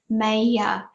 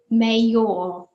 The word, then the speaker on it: mayor: mayor a mayor now the pronunciation is mayor we don't say meilleur it's actually got an AK sound mayor what does this word